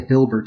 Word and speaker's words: Hilbert: The Hilbert space.